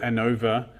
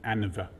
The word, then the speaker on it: ANOVA: I call it ANOVA. If you listen to some people, especially in the USA, talking about it, they'll pronounce it ANOVA. And they'll put the emphasis on the an and not the o.